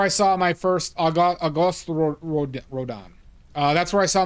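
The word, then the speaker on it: Rodin: The answer is Rodan. Rodan this man.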